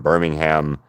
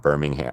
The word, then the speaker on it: Birmingham: Spelled the same way. said completely different. Completely different. You say Birmingham for the England one, right? And for the Alabama one, it is Birmingham. Okay. It's all one big word. Birmingham is how you say it in Alabama.